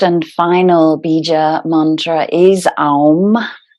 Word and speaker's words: AUM: final bija Mantra is Alm a u m sometimes referred to as Om but it's an arm and that controls the